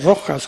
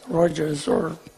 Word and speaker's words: Rojas: Y me sentí muy bien incluso ellos no podían pronunciar Rojas, como sabéis, la R y la J no tiene sonido en inglés, Rogers.